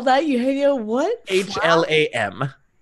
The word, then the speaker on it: Hlam: H-L-A-M. Hlam. H-L-A-M. A-M. So the H is silent. Yeah. Well, ish.